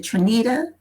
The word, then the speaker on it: Trinita: i met um is it trinita is that how you pronounce it yes i met you